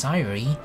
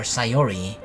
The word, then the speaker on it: Sayori: Yeah, I've never had a girl over besides Sayori, or Sayori. I should probably pronounce it as that, right?